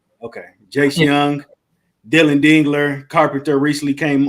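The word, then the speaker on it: Jace Jung: young am I young it's pronounced like young but spelled Jung okay Jay Young Dylan dingler Carpenter recently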